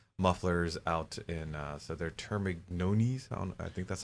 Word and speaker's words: Termignoni: I took Italian. GN. That yeah. explains how you pronounce it. Some of the The Regale. Think gnocchi. GN.